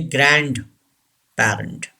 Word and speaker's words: grandparent: D should be silent. Don't say grandparent. The word is grandparent.